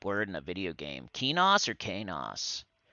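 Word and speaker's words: Qeynos: That's what I'm going to do, because you say Kanos instead of Kenos.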